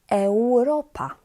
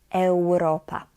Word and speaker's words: Europa: Europa, europejski. So imagine that you have actually the W there instead of U. It will be easier to pronounce Europa, europejski.